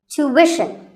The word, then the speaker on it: tuition: british but after that it's not ishan it's wishin tuition you have to put the what sound there so tuition word number